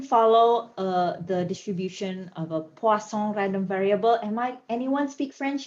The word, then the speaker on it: Poisson: But please don't say poison, because that's definitely not how you read that.